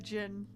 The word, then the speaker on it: Jin: a Jane yeah I got to remember to pronounce it Jin i' I've been saying it wrong sorry I need a